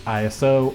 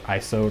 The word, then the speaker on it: ISO: last one which is ISO or ISO depending however you prefer to pronounce it but this one is